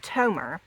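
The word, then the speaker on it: תמר: kin word to to is Tomer like tomorrow which is Strong's eight five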